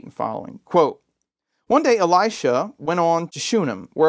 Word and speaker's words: Elisha: It's the story of Elisha, or Elisha. You'll hear it pronounced all different kinds of ways. I tend to alternate. The Hebrew is actually Elisha, with the accent on the end, but nobody says it that way. So I'll just say Elisha.